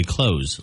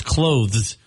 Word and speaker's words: clothes: just speak fast but c l o t h e a lot of people just say closeth like what you do with a door close but it's clothes that's a tough one